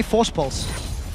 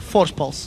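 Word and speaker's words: Voorspoels: name wrong every time so here's the trick everyone wants to know how to pronounce this just say Force pulse say it like you would say cidan with a bit of a lisp with is so it's crepo Force pulse Force pulse and they said that's how you say my name so cool story bro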